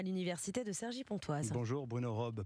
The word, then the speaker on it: Robbes: Bonjour Bruno Robe, pardon Bonjour. pour la prononciation tout à l'heure, j'ai rajouté un S qui était tout à fait malvenu.